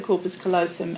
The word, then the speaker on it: corpus callosum: The whole brain, there's all these connections would be sparking and connecting across the corpus callosum, is that how you say it? Mm-hmm. Across the corpus callosum and connecting a whole lot of connections in the brain.